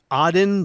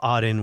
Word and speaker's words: Aden: terrorism problem here too send us money you pronounce that oddin the gulf of aden yes okay i've been pronouncing it wrongly for